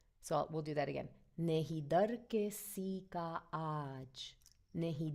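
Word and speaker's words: नहीं: Nahi, so it's very nasal. Nahi. And I know it's spelled Nahi, but if you imagine it as Nehin, Nahi.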